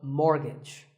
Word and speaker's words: mortgage: letter is silent here it's the T the first syllable is more and the second is gitch so mortgage number 27 is this